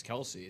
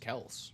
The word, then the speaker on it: Kelce: Well, I mean the biggest one right now it's isn't it it's obvious it's not Travis Kelce. It's just Kels, right?